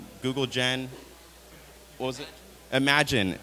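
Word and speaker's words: Imagen: Imagine. It's spelled I-M-G-E-N.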